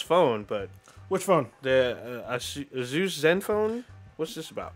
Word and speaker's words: Asus: you pronounce this shit? Because that seems... It's Asus.